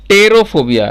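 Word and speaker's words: pterophobia: और टेरोफोबिया, देखिए यहाँ पी साइलेंट है सब जगह, टेरोफोबिया हो जाता है फ्लाइंग यानी उड़ने से डर लगने के लिए होता है वर्ड यूज टेरोफोबिया।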